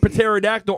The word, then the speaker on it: pterodactyl: well because I have pterodactyl arms that's not the point Arty all right um I know I know the p is silent all right don't judge